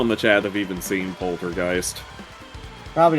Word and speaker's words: Poltergeist: you would be amazed how many people actually don't know how to pronounce Poltergeist heard a lot of interesting variations on that plotter gist can I get one ticket to plotter gist the most common one I heard was polter Gees um I did occasionally